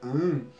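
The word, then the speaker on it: Ham: esse mantra, que é o mantra AM, que é H-A-M, você, junto com a respiração, você vai estar tendo um foco mais direcionado, uma concentração mais direcionada, né?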